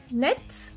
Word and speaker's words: net: Entonces, en el caso de net y muet, doblamos la T y podéis escuchar que cuando digo net, la forma masculina suena la T. Eso es muy raro, no es usual.